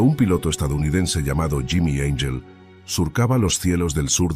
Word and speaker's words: Angel: piloto estadounidense llamado Jimmy Angel surcaba los cielos del sur de Venezuela. Jimmy no buscaba ángeles ni santos y su apellido se pronunciaba en inglés, no en español buscaba oro.